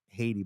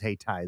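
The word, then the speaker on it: Hayti: spelled h-a-y-t-i right yeah I always thought it was Haiti but it is hey tie there it is stop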